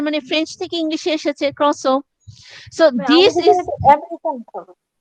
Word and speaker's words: croissant: French থেকে ইংলিশে এসেছে croissant. So this is না, ও এটা ক্রস ও ফ্রেঞ্চ। ওরা এটার মূল প্রোনাউন্সিয়েশন হচ্ছে ক্রসো, আর আমেরিকানরা উচ্চারণ করে ক্রোসেন্ট, ওরা ফুলটা ক্রোসেন্ট, উচ্চারণ আমি করে।